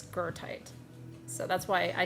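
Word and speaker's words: Goethite: Goite is is is it's go o e t hi t e I believe but it's pronounced if you pronounce it correctly in German it's gertite.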